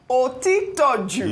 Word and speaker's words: Otitoju: Otitoju.